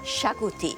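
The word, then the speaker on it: xacuti: I'm going to make a Goan classic, chicken shakuti, spelt with an exotic X.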